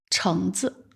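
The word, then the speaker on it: 橙子: 语法点，这个子单独念的时候它是三声，但当它在一个词语里边，经常就读成轻声，橙子，橙子。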